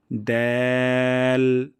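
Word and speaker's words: دال: জিহ্বার আগা এবং সামনের উপরে ২ দাঁতের গোড়া থেকে পাতলা সাউন্ডে উচ্চারণ করব দ্যাল, যেন দাল না হয়ে যায়।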